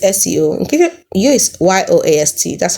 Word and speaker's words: Yoast: So Yoast Seo, Yoast Yoast, that's how I pronounce it.